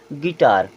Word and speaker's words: guitar: यहाँ लिखा है GUITAR, यहाँ पर देखें यू साइलेंट हो जाएगा क्योंकि यू के बाद आई है। अब क्या पढ़ेंगे? गिटार।